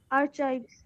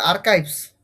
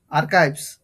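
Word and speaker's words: archives: আর্চাইভস। হ্যাঁ, উচ্চারণটা হবে আর্কাইভস। কি হবে বলো, কি হবে বলো তো এটার প্রনাউন্সিয়েশনটা? এটার প্রনাউন্সিয়েশনটা হবে, এটার প্রনাউন্সিয়েশন আর্চাইভস। না, এটা প্রনাউন্সিয়েশন হবে আর্কাইভস, আর্কাইভস।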